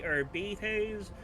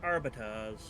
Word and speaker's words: Arbites: It can be pronounced in a few different ways. It could be arbetes or arbatas.